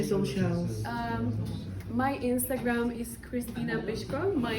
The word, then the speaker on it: Krystyna Pyszková: your Instagram any social um my Instagram is Christina bishko my name is a little bit difficult but it's spelled k r y s t y n a h p y s z k o Christina pishka I'll be so happy if you send me